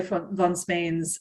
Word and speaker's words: von Spain: see any of Joy von Spain's, I always say von Spain because that's the German way of pronouncing it's a soft F V.